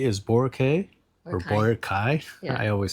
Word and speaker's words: Boracay: Boracay.